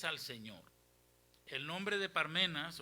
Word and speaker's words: Parmenas: Yo pronunciaba Pármenas, pero no es Pármenas porque no tiene el acento en la Biblia. Dice Parmenas. Amén. ¿Cómo dice? Parmenas. Significa en griego sí se pronuncia Parmenás.